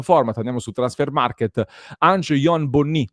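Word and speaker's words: Ange-Yoan Bonny: andiamo su Transfer Market, Angon Bonni, dovrebbe essere questa la pronuncia corretta del nome dell'attaccante francese, nato il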